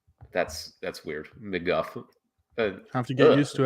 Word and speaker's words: McGough: And it's McGuff. McGuff. Okay. That's weird. McGuff.